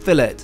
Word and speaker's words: fillet: ribey cooked rare and for me a medium cooked fillet yes we pronounce it that way in the UK before I get any